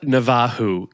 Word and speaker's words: Navarro: Rafa Navajo is the Brazilian Portuguese way of. I call him Rafa Navarro.